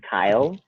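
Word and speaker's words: X Æ A-12: And I think I read somewhere that it's pronounced Kyle. That's I don't know if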